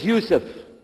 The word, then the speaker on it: Yusuf: My name is Yousef.